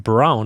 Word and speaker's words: Braun: Braun is pronounced brown in German, so people who know history will know.